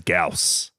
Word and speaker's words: Gyaos: Gamera versus Gaus.